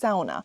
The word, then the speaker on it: sauna: need to know that sauna in Finland is actually pronounced sauna. Sauna is actually a Finnish word, but somehow Americans and those outside of Finland started to say sauna instead of sauna.